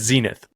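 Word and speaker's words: Xenith: It's Visus, it's Riddell, it's Shut, and it's Zenith. That's how they're pronounced.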